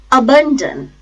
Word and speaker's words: abandon: start with the world abandon it has three syllables four syllable is a which is a low feeble sound schwa some been second syllable and Jem last syllable the stress is on second syllable the stress is on